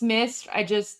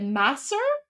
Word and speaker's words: Misr: Like I know it's Misr. Misr. There you go. And then I don't know how okay, is it Masr?